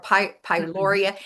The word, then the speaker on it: pyroluria: And she mentioned, now, Christina, you know a lot about this, Pyroli syndrome or pyroluria. It's not Yeah. H. pylori. Pyroluria. Right. Pylori. I always say it wrong.